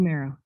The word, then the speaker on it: Fumero: How do you pronounce her surname? Melissa. Sorry about Basically, that. Fumero.